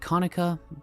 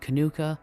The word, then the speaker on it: Kanuka: In this particular English dub, they pronounce it Konica, but in the OVA, they pronounce it Kanuka.